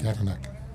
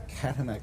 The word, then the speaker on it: Katanak: Katanak. Katanak. Laurie, for Katanak. everybody at home, Laurie Katanak. Just You got to say it real quick, like he did when I asked him.